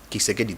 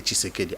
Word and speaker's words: Tshisekedi: Kisekedi te Tshisekedi.